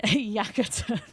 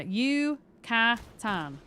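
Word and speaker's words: Yucatán: Yeah, yakatan.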